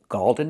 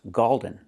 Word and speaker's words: golden: It's not pronounced Galden. It's pronounced golden. When you see O-L-D, make the long O sound like no and go plus the dark L. Golden. Like when you see words cold, fold, old.